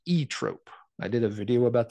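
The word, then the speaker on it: Zoetrope: band actually pronounces it e Trope silent Z at the beginning sure okay I can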